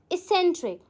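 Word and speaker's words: eccentric: How will you pronounce it? It pronounce S एसेंट्रिक।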